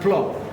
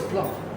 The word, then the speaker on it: plov: The Azerbaijan plov. Is that the correct Correct. pronunciation? Yes. Plov or plov?